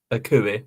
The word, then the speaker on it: Akui: Akui, that's how you say his name.